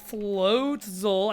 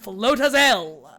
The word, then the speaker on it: Floatzel: We can do creatures like Skuntank, Stunky, Glameow, Purugly, yeah, Buizel, Floatzel. I used to think it was pronounced Floatazel, based on nothing other than just figuring it out in my own logic.